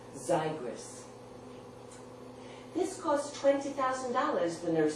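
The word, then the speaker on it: Xigris: Z spelled x i g r i s pronounced zyris this cost $220,000 the nurse said tonight when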